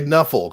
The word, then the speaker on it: Nuffle: the NFL, they just say Nuffle because they just see NFL and they don't say NFL. They pronounce it Nuffle.